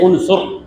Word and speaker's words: عنصر: عین نون صاد را، عین نون صاد رے، عنصر۔ یہ صحیح تلفظ ہے اس کا۔ بعض لوگ اردو پڑھتے